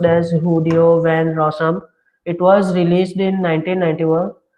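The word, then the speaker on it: Guido van Rossum: It's pronounced as Hudeo van Rossum.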